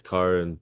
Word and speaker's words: Kyren: It's Kyren. There you go. Much nicely pronounced, that's for sure.